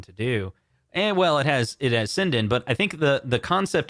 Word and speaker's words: Sinden: And by the way, it's pronounced Sinden, not Sinden.